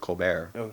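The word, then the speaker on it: Colbert: for Viacom was the cobbert show and John Stewart the t is silent coar and either way well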